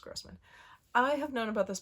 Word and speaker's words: Grossman: morning The Magicians by L grman or Grossman I think it's pronounced Grossman I have known about